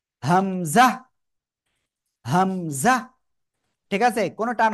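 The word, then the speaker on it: همزة: হামজা। হামজা, ঠিক আছে, কোনো টান হবে না কিন্তু, একেবারে কোনো টান হবে না এই হরফে।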